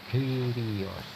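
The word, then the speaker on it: κύριος: Bacanya Kyrios.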